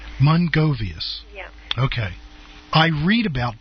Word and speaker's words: Mrongovius: The pronunciation, you've got to sort of hide the R, so it's Mrongovius. Mrongovius.